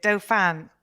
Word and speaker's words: Dauphin: do you pronounce it with dophan d-o-f-a-n that's pretty much right yeah um yes just